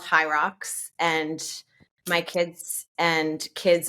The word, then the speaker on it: HYROX: They're called High Rocks, and my kids and kids of my friends